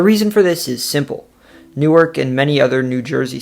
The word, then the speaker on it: Newark: The largest is known to lots of people outside the city as Newark, but many locals pronounce it Newark.